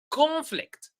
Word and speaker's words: conflict: Let us read them together, and try to put the I have emphasized here or I have highlighted the stressed syllable. So, for example, conflict.